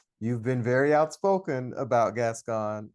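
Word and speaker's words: Gascón: been very outspoken about gas gon am I saying it right gas gone gas gon yeah gas gone what are your views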